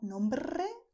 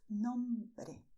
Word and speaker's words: nombre: No, nombre doesn't exist, it's nombre. Okay, no vibration of the tongue here.